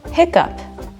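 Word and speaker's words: hiccough: Finally, sound number 7, the up sound. By the way, this is a new one for me, like in the word hiccup. It's actually an alternate spelling of hiccup.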